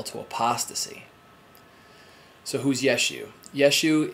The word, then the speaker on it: Yeshua: apostasy so whose Yeshu Yeshua is how you pronounce Jesus in Hebrew so it is about